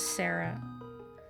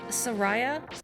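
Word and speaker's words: Saria: time you thought sorry his name was sarah you used to say soraya or sarria and you'll have to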